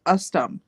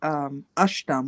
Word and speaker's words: ushtum: So the first word was ustum, which when it's spelled out, that's exactly how it sounds. But in Ojibwe, which is our tribe, me and Shayla's, it's ushtum, which means come here.